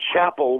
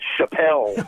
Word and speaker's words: Chapel: uh under the name Chapel which is his middle name but we changed the band's name to pile tribe because uh everybody kept pronouncing it Chappelle oh no but so